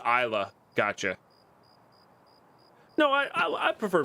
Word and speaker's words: Islay: It's Isla. Gotcha. No, I prefer pronouncing things correctly.